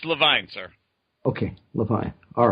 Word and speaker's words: LeVine: is only five letters so it's easy to pronounce which is the real one it's Levine sir okay look I all right all right